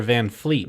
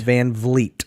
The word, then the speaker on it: VanVleet: points Van Vleet or VanFleet Van Vleet because I've heard the announcer call him other don't know how to pronounce his name still he's got a logo and everything and it's fvv and they still call him Fred Van Fleet it drives me nuts he doesn't look like